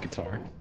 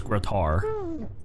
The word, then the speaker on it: Grotar: Grotar. Pronounced guitar. No, it's Grotar.